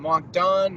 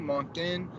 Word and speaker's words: Moncton: what I think right there that's not we pronounce it wasn't Mach done Moncton and you confirmed it no I didn't really